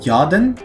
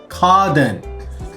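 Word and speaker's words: 家電: We have home electronics, which is yaden. Kaden. I was very close. This is pronounced ka, not ya. I mean, it's also pronounced uchi and ie, but in this sense, it's ka.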